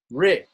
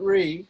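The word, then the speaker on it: ṛ: Now we're going to look at the next vowel is Ri, Ri, not Re, Ri, short R, right? And short R looks like this in Devanagari.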